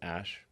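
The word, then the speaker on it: X Æ A-12: I mean, it's just X, the letter X. And then the AE is like pronounced Ash.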